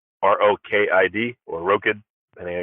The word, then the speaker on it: Rokid: So it's, I think it originally comes from a combination of the two words robot and kid, because we're trying to